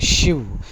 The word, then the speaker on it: chiv: Shiv, pronunciation is shiv, to be stabbed.